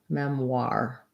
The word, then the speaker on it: memoir: kind of mem war memoir think about it like the word r and then with a w memoir memoir um and then question